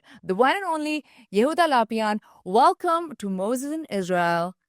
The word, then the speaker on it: Lapian: And today we have Yehuda Lapian.